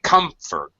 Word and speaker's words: comfort: bit of an exception because we say comfort and the second syllable is definitely an unstressed vowel sound and uh an unstressed syllable you try to comfort